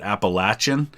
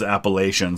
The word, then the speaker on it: Appalachian: about where I live, they pronounce it Appalachian. But the rest of the country all says Appalachian. So I get a lot of feedback from people who say I pronounce it wrong one way or the other.